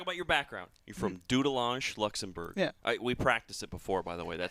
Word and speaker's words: Dudelange: You're from Dudelange Luxembourg. Yeah, I we practiced it before, by the way. That's how I pronounce it. Sounds like it's a French pronunciation, so it's like doodel.